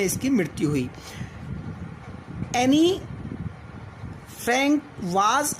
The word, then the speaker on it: Anne: ये एनी Frank की diary से लिया गया है और written by एन Frank, not एनी Frank, एन Frank, because E is silent hair.